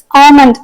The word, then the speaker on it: almond: நமக்கே தெரியும், நிறைய இடத்துல இங்கிலீஷ்ல எல் சைலண்டா இருக்கும். ஃபார் இன்ஸ்டன்ஸ் ALMOND இதை நம்ம எப்படி படிப்போம்? ஆமண்ட் அப்படின்னு சொல்லுவோம். அப்ப எல் அங்க சைலண்டா இருக்கு.